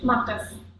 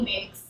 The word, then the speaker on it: Makes: Marcus. Marcus. Yeah. Marcus. Okay. Marcus. Marcus. Mm-hmm. Yeah. I would have said Megs. Yeah, people in America call me Migs.